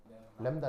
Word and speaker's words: 람다: 어떻게 읽는다고 어떻게 읽어요 람다 람다 그래서 그 읽을 때 램브 다거 발음으로 쓰자면 그래서 램브 다인데 이제 이게 자음이 두 개니까 이제 약하게 발음해서 램다 이렇게 표현을 하는 거죠 그 정확하게 램브 다가